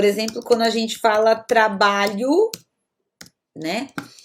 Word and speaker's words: trabalho: quando a gente fala trabalho, né? Eu não pronuncio trabalho, eu digo trabalho, ok? Esse O no final da palavra vai ter som de U.